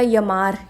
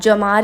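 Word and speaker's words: llamar: देती हूं इसको मैं मैं तो देखो या प्रोनाउंस करती हूं तो मैंने बोला यमर यमर का मतलब होता है किसी को कॉल करना टू कॉल बुलाना किसी को बुलाना कॉल करना तो आप जमार भी बोल सकते हैं यमा होता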